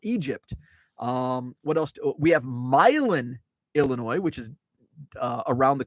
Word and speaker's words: Milan: We have Milan, Illinois, which is around the Quad Cities. I call it part of the Quad Cities. Milan, which is spelled the same as Milan. Also, not far from Milan,